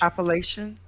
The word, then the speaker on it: Appalachian: Appalachian?